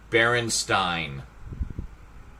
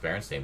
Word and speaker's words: Berenstain: Stop misspelling Berenstain. Berenstein. I don't like to pronounce it like that. It was pronounced Berenstain, but it's spelled with an E.